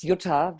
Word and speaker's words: Jutta: My name is Jutta, very hard to pronounce for many of you. It's a very German name.